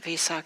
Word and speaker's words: Vesak: We pronounce it Vesak. There's different ways to pronounce it.